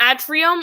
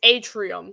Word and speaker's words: Atrium: oh by the way it's not Atrium or Atrium it's Atrium so I said it wrong like five times and looking just past